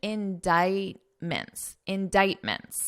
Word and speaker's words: indictments: For now, just notice that pronunciation, indictments. So here, this pronunciation, indictments. So I crossed out the C because you don't hear it in pronunciation.